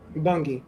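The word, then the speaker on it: Bunge: He said Mario Bangi. Yeah. Is it Bungi or Bung? Bungi.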